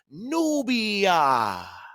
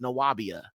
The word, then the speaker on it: Nubia: But even if you see a V right here, it was still pronounced as nubia. Nubia. Okay, so there's still that ooh sound.